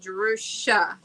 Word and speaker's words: Jerusha: It's easy to let people remember when I say, okay, say Jerusalem, take the limb off, and Jerusha.